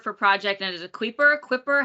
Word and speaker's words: Kuiper: You work for Project, and is it Quipper? How do you say Kuiper. it? Oh yeah, how do you Kuiper. Get it right pronounce at all.